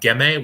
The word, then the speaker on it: Ghemme: So Gemme, which is spelled Ghemme, and Gattinara, Gattinara, are both kind